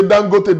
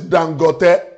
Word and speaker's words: Dangote: Some people say Dangote, Dangote. That's not the right pronunciation. The right pronunciation is Dangote.